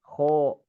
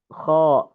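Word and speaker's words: خ: Saat mengucapkan huruf ghain dan kha ini dikarenakan tidak boleh diucapkan dengan bibir monyong misalkan gho, kho, misalkan gho, so itu tidak boleh.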